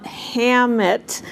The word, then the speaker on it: Hammett: about lillian hellman and daschle hammer hammett am i saying it right yeah and and you